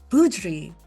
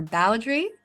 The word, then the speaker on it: Boudry: Joining me today is Martin Budri or Bowri is the more American pronunciation which he's let me know he's also all right with.